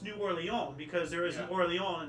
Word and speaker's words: New Orleans: you know New Orleans yeah it's actually correctly pronounced new oron because there is an oron in France yeah